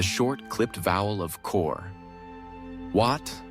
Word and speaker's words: Wat: Wat concludes with a short A and soft T, a delicate syllable that Western tongues often mishear.